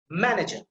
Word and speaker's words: manager: So here, see, manager, manager, manager. See, so the ma sound, that is emphasized, that is stressed.